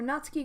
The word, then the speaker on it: Natsuki: of the room where Natsuki grabs a wrapped tray and Yuri opens the closet before anybody cracks me on the way I say nuts ki I'm technically saying it right cuz it's not Suki I'm just saying quickly